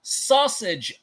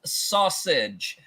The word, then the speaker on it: SASG: welcome everyone to the very first episode of sausage links yes it is pronounced sausage uh I am your co-host jeie V and